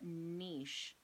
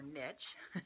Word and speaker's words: niche: more specific or what niche or niche depending on how you want to pronounce that are you so if